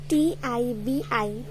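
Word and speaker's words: 티비: Now I'll teach you how to pronounce it in Korean. It's really easy, which is TIBI.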